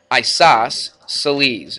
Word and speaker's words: isosceles: So, but anyway, she spells her name C-E-L, and it sounds like an S though, doesn't it? Celine. So, Isos, what? Celes. C-E-L-E-S. Isos, Celes.